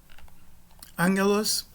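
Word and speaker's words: ἄγγελος: Angelos, mensageiro, uma ocorrência do gama aqui, com som de gutural nasal, só o primeiro, o segundo não.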